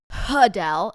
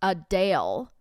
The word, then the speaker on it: Adele: several comments of people being like it's not puddell it's Adele I so anyway I I can't